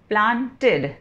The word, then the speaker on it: planted: Example, प्लांटेड, प्लांटेड, तो यहाँ पे क्या प्रोनाउंसिएशन आया? इड, प्लांट इड।